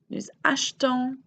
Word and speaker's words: achetons: There's a clear difference in how I'm pronouncing j'achète versus nous achetons. That E seems to vanish if that accent isn't there.